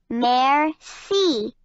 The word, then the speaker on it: merci: you in French you say it like this merci observant noticing things overjoyed very happy portrait a